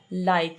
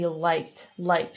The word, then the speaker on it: liked: Sì, ogni tanto con la L. Light invece di liked. Quindi se mette la lingua un po' più avanti, perfetto.